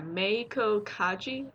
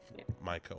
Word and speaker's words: Meiko Kaji: How do you pronounce the main actress's name again? Yeah, Meiko Kaji. Meiko. Okay, I was Maiko when I was looking at it earlier.